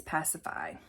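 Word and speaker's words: Pasiphae: Elizabeth's best friend pacify if you were wondering how to say it it is pacify where did I get the name pacify of course it's Greek where did I get the pronunciation from the BBC show Atlantis I was watching Atlantis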